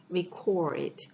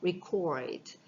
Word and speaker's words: record: 동사면 발음을 어떻게 하죠? record. 오의 강세 있어요. record. 만약에 명사면 record 이렇게 발음이 되는 거고 이건 동사예요.